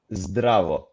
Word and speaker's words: Zdravo: Is it Zdravo? Okay, you just need to listen carefully. Zdravo. Bravo. It's a draw. Yeah, It's great, a draw. great, Jack. Yeah. Oh, cool. Well, bravo. Zdravo.